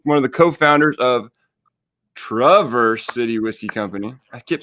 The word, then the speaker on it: Traverse: name correctly and while we're talking about name pronunciation let's talk about Traverse City whiskey absolutely so the correct pronunciation is it's a hard trap so Travers not Traverse Traverse City whiskey so I said Traverse every